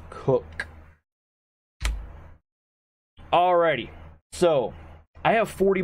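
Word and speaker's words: Koch: in the past week it is pronounced cook alrighty so I have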